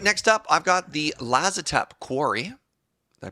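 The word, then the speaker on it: Lazotep Quarry: All right, next up, I've got the Lazatep Quarry. Did I pronounce that right?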